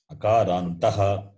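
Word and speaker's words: अकारान्तः: When you say, you should not drop the visarga. Akarantaha, Akarantaha, Pullingaha.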